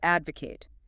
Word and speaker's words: advocate: Next verb, to advocate. Advocate. Stress on the first syllable. Advocate. 3 syllables.